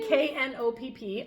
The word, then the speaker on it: Knopp: Wendy Knopp. I'm assuming the K is silent, just like in knit.